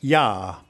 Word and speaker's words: ja: It's like the German word for yes, ja. It's written with a J but pronounced with a Y.